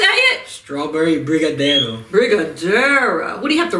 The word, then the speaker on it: Brigadeiro: Brigadeiro.